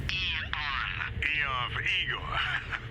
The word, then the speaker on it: Aeon: With the state of the world today, the Aeon program is... Eon. I'm sorry? It's pronounced Eon.